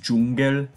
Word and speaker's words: Dschungel: Like, in German, it's still pronounced Dschungel, but the way it's spelled is so hilarious to me because they have no J. Like, they have a J, but they don't have the J sound, so they have to, like, spell it really stupidly.